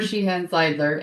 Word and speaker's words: Sheehan-Zeidler: And I always say her name wrong. Is it Zeidler? With an I, Zeidler. Zeidler. Okay. Sheehan-Zeidler.